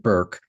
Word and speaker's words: Bourke: I've been calling it Burke for a dozen times and I have to keep remembering that she pronounces it Burke.